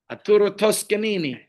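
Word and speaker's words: Arturo Toscanini: Aturo Tuskanini.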